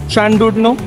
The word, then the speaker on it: Llandudno: দিকে যাব সো আমরা ফাইনালি এসে পড়েছি ল্যান্ডুড নোতে এখানে প্রোনাউন্সিয়েশন হয় স্যান্ডুডো দূরে পাহাড় আমরা সমুদ্রে আস্তে আস্তে অনেক দেখেছি